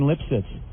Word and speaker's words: Lipsitz: Hey, there's Jane Lipsitz. Jane, your last name is Lipsitz? Yeah. See, her name is Lipschitz, but she's changed it to Lipsitz. Silent age.